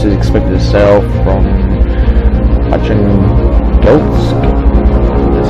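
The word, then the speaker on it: Arkhangelsk: A small enemy force, including one or two of these ships, is expected to sail from Archangelsk, that's how you pronounce it, momentarily for a rendezvous somewhere in the Barents Sea.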